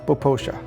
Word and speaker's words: Popo Agie: Now, the Poposha River is actually written as though it were Popo Aggie, but it's pronounced Poposha.